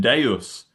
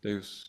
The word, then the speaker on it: Deus: Yeah, and there's there's a great detail that of course in Latin, Deus, two syllables, doesn't work. Deus. Doesn't work. Deus.